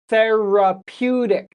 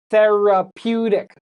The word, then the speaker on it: therapeutic: So the key word here is therapeutic. So therapeutic, 4 syllables. This is a hard word, therapeutic. And if you say it faster, therapeutic, okay? The stress is on the pew, therapeutic.